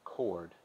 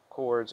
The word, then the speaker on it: chord: chords at their intersection a chord pronounced k-o-r-d and parenthesis not chord is a line segment